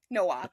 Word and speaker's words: Nowak: Today I am joined by Jocelyn Nowak. Actually, I didn't ask you how to pronounce your last name. How do I pronounce your last name? Nowak, like no walk run. Nowak. Nowak.